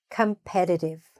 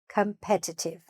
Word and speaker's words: competitive: Competitive or competitive. You can pronounce the T's or not. It's fine either way.